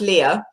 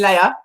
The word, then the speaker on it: Lea: do best okay well it's pronounced leah but you americans always call me leia princess leia um i was a